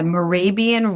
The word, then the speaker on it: Mehrabian: Yeah, Mehrabian rule.